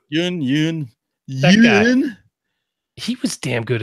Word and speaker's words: Steven Yeun: Yeun young said how you say his name jung-yoon then he was damn good in this movie